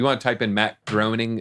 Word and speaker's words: Groening: Matt Groening, I think is how you say his last name, is from the future.